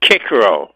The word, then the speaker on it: Cicero: that was Marcus tius Cicero okay and okay now that we're being picky yeah kicko H kicko that's right I took three years of Latin and I know how to pronounce this yes it's not Caesar